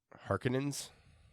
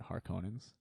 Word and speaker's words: Harkonnen: not just gonna furthermore I hate the way they pronounce it in that old movie harkonnens that's how I pronounce it or put in that old movie they pronounce it har conan's I don't know I like her codons I liked Harkonnen well we're putting this dress on the penultimate syllable is pretty common so who do you